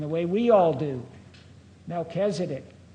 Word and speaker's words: Melchizedek: He did pronounce Melchizedek the way, and Oliver did too, and the way we all do. Melchizedek, not Melchizedek.